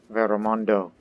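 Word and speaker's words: Veremundo: cast my votes to um vero mundo veromondo that's how you say it in physical like language i have a habit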